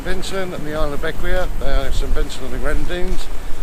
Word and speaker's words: Bequia: Just sailing to Bequia. I think it's called Bequia. It is that way. How do you spell it?